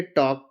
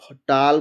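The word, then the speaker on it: talk: इसको टाल, folk, वाल्क, चाल्क नहीं पढ़ेंगे। इसको सीधा इसका प्रोनाउंसिएशन है टॉक, फॉक, वाक, चाक।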